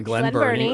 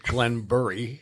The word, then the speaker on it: Glen Burnie: Rocco's Pizza in Glen Burnie, or as he pronounces it, Glenbury.